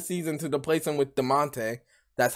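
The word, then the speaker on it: Damonte: I don't know why Echo Fox let him go in the middle of the season to replace him with DeMonte.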